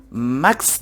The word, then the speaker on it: machst: Y recordar que la CHS en alemán es una X, al revés, la SCH, recordáis que os dije en los primeros vídeos, doble S el sonido, pero la CHS, como tenemos aquí, was machst du da, ¿no oís? Was machst du da, Max duda.